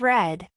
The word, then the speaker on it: read: Next, read becomes read. Notice that the spelling stays the same, but the pronunciation changes.